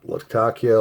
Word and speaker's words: latakia: do like latakia yes pronounce it how you want laktakia latakia latakia i believe is the correct pronunciation so we're gonna take